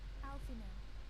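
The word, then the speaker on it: Alphinaud: Alfino, it is good to see you. Tell me, what have you learned? Alfie, no, you don't pronounce the D is silent.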